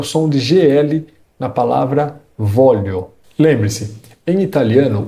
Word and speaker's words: voglio: E um destaque especial para o som de GL na palavra voglio. Lembre-se, em italiano o GL tem som de LH. Então, nada de falar voglio. O correto é voglio.